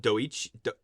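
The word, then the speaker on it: Doechii: name and I apologize I believe it's pronounced doich DOI golly d o e c h i i her Al her album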